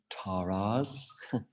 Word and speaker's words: Tārā: tara there are 21 taras and yes you pronounce it tara two long a's and she's full of